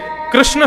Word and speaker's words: कृष्ण: इसीलिए कृष्ण शब्द का जो लोग कृष्णा उच्चारण करते हैं वे सावधान रहें, क्योंकि यदि मुक्ति मिलेगी तो वैकुंठ में द्रौपदी आपका स्वागत करेंगी। आइए, आपने मेरा खूब भजन किया। आप कहोगे द्रौपदी जी हमने आपका नहीं, हमने तो भगवान का किया था। बोले नहीं, आप हरे कृष्णा बोलते थे ना, कृष्णा तो मेरा नाम है, भगवान का नाम कृष्ण है।